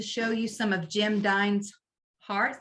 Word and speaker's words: Dine: you some of Jim dine's Hearts did I say it right not Jim Hines darts dine dine Hearts Friday let me move